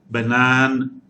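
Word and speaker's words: banane: in english and banan banan the word with b example is banana in english but in french the pronunciation is banan banan banan and the n is not silent that's the reason it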